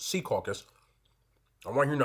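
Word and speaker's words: Secaucus: caucus New Jersey yes for people not from here it's pronounced SE caucus I don't want to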